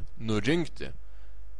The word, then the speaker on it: nurinkti: surinkti nurinkti aprinkti išrinkti the stress is is on in in parinkti surinkti nurinkti you stress the letter n nurinkti in theation in